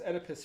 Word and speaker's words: Oedipus: It's pronounced Oedipus.